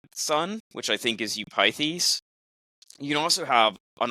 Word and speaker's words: Eupithes: Eupithes, thank you. Eupithes? Yeah. Eupithes, as a contrast, who has, as it were, you can have a bad father with a bad son, which I think is Eupithes.